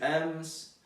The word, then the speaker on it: aimes: Você vai ler, por exemplo, j'aime, tu aimes, mas a gente não vai pronunciar o S, né? Então, j'aime, tu aimes, vai ter um S no final, mas ele não se pronuncia.